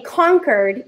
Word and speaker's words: Concord: Now we say Concord, even though it's spelled C-O-N-C-O-R-D, because we have accents, believe it or not.